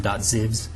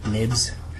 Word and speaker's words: xib: So in our resources here, we have something called UCD1 viewcontroller.xib, and usually this .xib, some people have started pronouncing them .zibs. They actually refer to what's called nibs, which is basically a compact way of archiving objects.